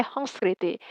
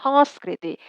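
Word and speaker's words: সংস্কৃতি: एक शब्द है संस्कृति, लोग बोलते हैं हॉंस्कृति।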